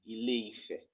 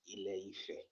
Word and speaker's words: Ile-Ife: A lot of people and can't kind of confuse the pronunciation to be Ile-Ife. But the actual pronunciation, according to Yoruba history, is Ile-Ife, the place where the land spread.